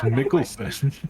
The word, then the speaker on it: Mikkelsen: It's Mikkelsen.